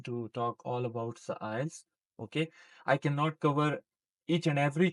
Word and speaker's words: IELTS: I'm going to talk all about the IELTS.